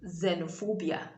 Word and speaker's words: xenophobia: it begins the words it takes the z sound so you have it in xenophobia this word is not x well i don't know if there are people who call it any other thing other than xenophobia and then you also